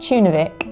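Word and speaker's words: Tjørnuvík: Pronounced Tunavik, it's known locally as the tiny hidden village,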